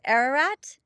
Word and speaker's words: Ararat: Ararat.